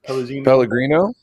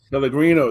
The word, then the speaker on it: Pellegrino: Drinking on some nice, I'm not sure how to pronounce it, some sparkling water. Pellegrino? Pellegrino, there you go.